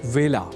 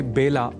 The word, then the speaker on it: वेला: पर आप संस्कृत पाठशाला की गत कक्षाओं में जान ही चुके हैं कि व का कई बार ब के रूप में उच्चारण करना अशुद्ध होता है। अतः ए अक्षर से जुड़े वेला इस शब्द के उच्चारण में भी विशेष ध्यान रखा जाना चाहिए। अर्थात इसे बेला नहीं बोला जाना चाहिए।